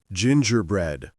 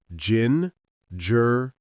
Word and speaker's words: gingerbread: Gingerbread. Gingerbread. Stress on gin.